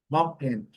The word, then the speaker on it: mountain: Mountain, mountain, mountain. O T é quase, às vezes ele é até compreensível, mas é muito, muito sutil.